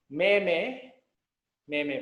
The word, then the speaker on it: meme: Meme ba? So actually, the pronunciation is meme.